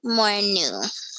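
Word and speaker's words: Morinoue: there it is um hiroki more new so it's like a new sound at the end um and he is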